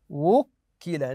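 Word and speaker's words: وُكِّلَ: كيف اقرا هذه الكلمه وكل ناتي بالواو والضم في الواو وكل بكم الذي وكل الذي وكل بضم الواو عند النطق بها حتى تبين ايضا كلمه اقراوا لي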